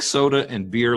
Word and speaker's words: Soetebier: it it's you pre you pronounce it like soda and beer like the two beverages but that's not the